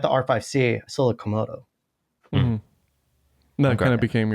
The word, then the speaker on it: Komodo: People tore me up in the comments on my video about that because they all thought I said it like kimono, like, you know, like the thing that you wear.